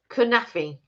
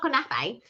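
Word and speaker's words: kunafa: about this one, and someone corrected me on how to pronounce it, kunafi. Bless you. because somebody said it's not knafe.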